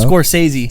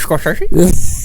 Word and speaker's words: Scorsese: How do you say his last name, bro? Scorsese. Scores. Martin Scorsesei. You said Martin Scorchy.